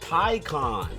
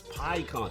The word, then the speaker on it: Pyon: Pon. Oh, it's Pyon. Thank you.